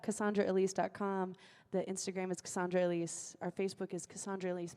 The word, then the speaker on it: Elese: Just sound very eclectic when you say it. Sounds like that's how I'm saying the name is pronounced.